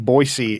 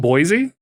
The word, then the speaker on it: Boise: that was a thing it's not Boise no Boise no it's not it's Boise okay hard you have to make a hard C out of that s why did you say